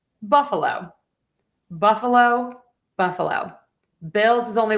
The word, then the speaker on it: Buffalo: So we have the main stress on buff. You're going to unstress the schwa. And then low gets a little bit of stress there. Buffalo, Buffalo, Buffalo.